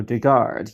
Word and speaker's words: Dugard: get one thing straight my last name is pronounced you know to guard you know we're just 1g but but it